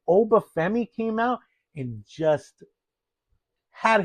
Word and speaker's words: Oba Femi: I'm sorry. Then Oba, I got to say his name correctly. Then Oba Feami came out and just had his way with Brock Lesnar, right?